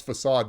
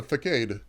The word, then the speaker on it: facade: like that really yeah I'm impressed you knew how to pronounce facade because I I feel like I was maybe like you know well older than you before I knew how to say that you know the ficade yeah how I probably pronounced it so you you've been